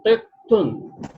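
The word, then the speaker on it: قطة: be pronounced separately, tun, tet, tun. This is written like this with the sign of shadda. Shadda indicates that ta is double and there is a tanween dhamma, double dhamma on it.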